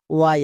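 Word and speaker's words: way: ওয়াই আছে, তার মানে ডব্লু এ এর জন্য ও এ, ওয়াইটা সাইলেন্ট। কেন? যাকে দেখে সাউন্ড করতে পারলাম তাকে আমি কি করব? সাইলেন্ট, উচ্চারণ করার দরকার নেই, তাহলে কি হলো? ডব্লু এ ওয়াই, ওয়ে।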